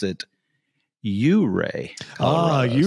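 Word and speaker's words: Ouray: can see my hat it it looks like it's spelled uray Colorado but I found out when I got here that they actually pronounce it you Ray oh you say fancy know why I'm like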